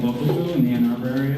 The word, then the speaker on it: Local Foo: It's like Kung Fu, but Local Foo.